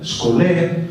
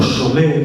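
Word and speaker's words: σχολή: Vayan a buscar ustedes el término original de la palabra escuela, skolé o sholé, según la pronunciación, término griego que designa dos sentidos.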